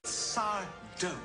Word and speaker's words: Sardo: Sardo. No Mr. Accent on the do.